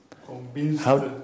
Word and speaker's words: convinced: This is pronounced S. Convinced. Okay. So T. Everything that is ending in the S sound, even if it's written CE, is pronounced in the past.